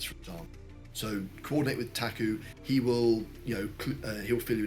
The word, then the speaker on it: PTAC: So we have had things in the past where Taku, PTAC is how you spell it, but Taku is how you pronounce it. Though better if you're Polish.